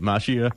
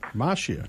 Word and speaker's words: Macchia: It's kind of a long story, but I grew up pronouncing it Macchia. Macchia. But the correct Italian way is Macchia.